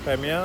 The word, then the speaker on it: Crimea: Crimea? Crimea, Okay. Ukraine. Perfect pronunciation.